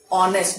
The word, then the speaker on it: honest: We say honest because H is silent.